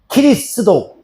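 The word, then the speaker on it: キリスト教: 지두 그래서이 단어가 일본으로 넘어가요.이 지두라는 단어가 일본어로 넘어가는데 일본어에서 그 발음이 키리스독 키리스독 이렇게 읽어요.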